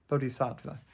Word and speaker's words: bodhicitta: But I'll tell you how it's pronounced. Bodhicitta.